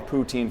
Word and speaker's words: poutine: I was just about to ask, have you witnessed anybody to finish the Is it poutine?